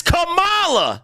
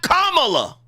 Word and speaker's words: Kamala: bet you also didn't know that the correct pronunciation is Kamala not Kamala bet y'all didn't know that that's why whenever